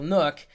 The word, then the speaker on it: NUC: Even this Intel PC here, because, I'm sitting in front of my little Nook, that's spelled NUC.